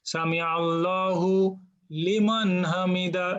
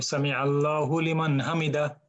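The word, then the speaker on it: سمع الله لمن حمده: normal মানে flow হবে সামি আল্লাহু লিমান হামিদা, কিন্তু নন নেটিভ স্পিকারের কাছে শুনতে মনে হয় যে হুলিমান বলতেছে, কিন্তু আরবদের কাছে অথবা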